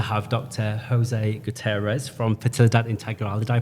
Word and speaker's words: Fertilidad Integral: Jose Gutierrez from Fertilidad Integral. Did I pronounce that right?